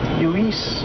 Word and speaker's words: Lluís: That's the Catalan way of saying Luis. Lluís.